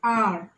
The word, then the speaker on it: hour: Words like an hour, an honest girl, an honorable man. So you don't pronounce it as hour. The H is silent.